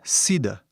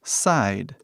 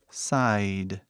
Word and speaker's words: side: Então, antigamente era sida. Tipo sida, assim, era a pronúncia. Mas, hoje em dia, falamos side, side, side.